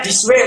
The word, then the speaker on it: Disway: Ya, bacanya Disway, Pak. Disway sekarang. Oh, Disway. Disway, harusnya Disway.